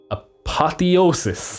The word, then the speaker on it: apotheosis: will be at their apotheosis that's how you pronounce it here's the Google man